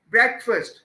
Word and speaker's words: breakfast: It would be breakfast.